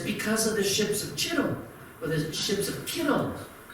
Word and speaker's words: Chittim: The answer is verse 34, the ships of Chittim, or as it would be pronounced in the Hebrew language, Kittim, shall come against him.